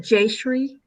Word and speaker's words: Jayshree: Well, because I think, is it Jayshree? I don't know how to pronounce your name. Yep, you said it right.